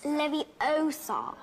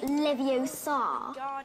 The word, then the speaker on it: Leviosa: someone's eye out besides you're saying it wrong it's leviosa not leviosa you do it then if